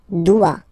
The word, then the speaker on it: doit: Il, elle, doit. Final T not pronounced.